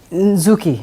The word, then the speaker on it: Nzuki: Nzuki is Nzuki, not Nzuki. Yeah, it's Nzuki. Nzuki. Yeah. But it's spelled as? Nzuki. It's still Nzuki.